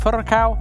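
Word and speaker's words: Furacão: Furacao? Do I have to roll the R at the end? You said it right. Nope. That's you beautiful. said it perfect.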